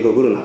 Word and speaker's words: GGRNA: うふうな GGRNA と書いてグーグルナと呼んでるんです